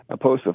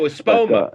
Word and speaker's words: Espoma: The growing medium at that time was something from Miracle Grow, but I've since switched to Aposa for this year. Aposa, I can't pronounce it properly. Oh, Espoma.